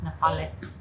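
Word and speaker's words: nopales: Nepales. You're Mexican. Can you say it properly? It's corn tortillas made with npales. With What was that? Hold on. What was that? Napales.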